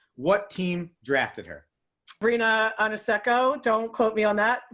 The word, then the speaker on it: Ionescu: And it is Ionescu.